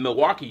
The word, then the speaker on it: Milwaukee: No, it's just like it's great to be here in Milwaukee. See, there you go. See, people from Milwaukee don't pronounce the L. It's Really? Milwaukee, not Milwaukee.